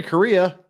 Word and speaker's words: Correa: Larry Correa, pronounced like Korea, a Utah.